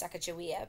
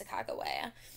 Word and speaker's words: Sacagawea: It was about 50 soldiers and woodsmen, and Sacagawea, you may know her as Sacagawea, but the correct pronunciation is Sacagawea, will be their interpreter and guide.